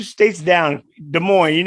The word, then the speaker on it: Des Moines: Des Moines. Des Moines. Yeah, Des Moines. No S. The S is silent.